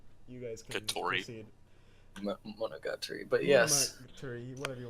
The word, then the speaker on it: Monogatari: Monogatari, but yes. Monogatari, whatever you want to say. everyone knows I'm shit at pronouncing these things, but that's That's all good.